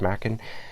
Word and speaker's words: Machen: I think I've heard it pronounced as Machen or something like that before, but I'm pretty sure it's Machen.